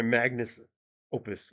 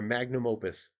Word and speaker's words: magnum opus: to show you my my magnus opus my magnum my magnum opus is how you say it oh no now it's